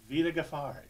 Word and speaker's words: Vida Ghaffari: Vida Ghaffari.